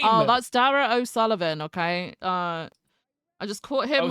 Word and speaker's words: O'Sullivan: Wait, How the fuck do I pronounce their name? Oh, that's Dara O'Sullivan, okay? I just caught him with Opal. O'Sullivan.